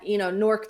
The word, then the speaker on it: Newark: It's Newark. It's literally, if you lived in this area, I live one city over from Newark. Everybody calls it Nork. That's just I didn't create this. This is how it's said.